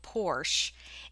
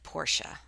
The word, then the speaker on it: Porsche: someone restore 50s model porsche and knew what it was right away i guess i should have said porsche that's the correct pronunciation it took some time